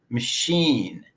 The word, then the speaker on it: machine: sound up actor actor in the word machine the unstressed first vowel is reduced to up even though it's spelled with a letter a machine machine the word animal has